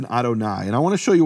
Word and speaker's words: Adonai: you would expect for Adonai but one of the important things here is that the first letter of Adonai is silent.